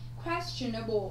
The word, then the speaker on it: questionable: Questionable, ok? Chúng ta có trọng âm dêm tích thứ mấy? Thứ nhất.